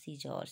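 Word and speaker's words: scissors: seizure S সি আই এখানে কিন্তু সি এর কোন ভূমিকা নাই উচ্চারণ নেই কিন্তু আমরা বানানটা লিখবো এস সি আই এস এস ও আর এস সিজারস ঠিক আছে ডি সাইলেন্ট থাহলে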